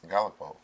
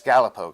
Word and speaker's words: Galipeau: And I'm such a jerk because I'm about to mispronounce his last name and I'm going to have to do it again. it's Galipeau. It's Galipeau, correct?